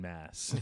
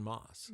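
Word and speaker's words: Maas: he becomes like Kevin mass yeah so it's kevin moss get Moss yeah yeah um spelled with an a tho mas it um all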